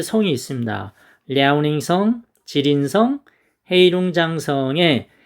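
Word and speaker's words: 吉林省: 지린성, 여기 우리나라 이제 중국 동포들이 아주 많이 살고 있습니다. 장춘, 한번 가봤습니다. 이쪽에 길림성 뭐 이렇게 되어 있죠. 발음은 지린성입니다.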